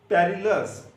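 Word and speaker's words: perilous: पहला वर्ड है पेरिलस। क्या वर्ड है, पेरिलस। ये याद करने के लिए पेरिलस है, लेकिन प्रोनाउंसिएशन परलस होती है इसकी।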